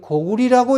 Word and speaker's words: 고구려: 징보 민원비고, 박경가의 동원고에 모두가 고려는 고리라고 읽어야 되고 구려는 구리라고 읽어야 되고 고구려는 고구리라고 읽어야 된다고 나와 있다.